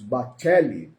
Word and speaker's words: Bacelli: Xavier de autoria de Carlos Bacelli ou uma pronúncia aí dos mais conhecedores do idioma italiano Carlos bachelli né o item 944 desse